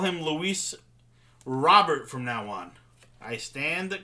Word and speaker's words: Luis Robert: or the Casey - Luis robber is how I'll pronounce it from that LAN dude I didn't know that was the case if I knew I would have just said it that way the whole time there's a you so